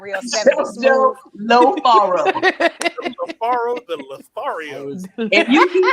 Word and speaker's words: Lofaro: But I'm saying specifically pronounce the O. Say Faro, and then they'll get it.